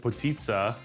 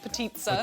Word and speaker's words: potica: So I will have to admit to you guys that when our producers came to me and said, hey, we're gonna do potitza, I thought she said pizza.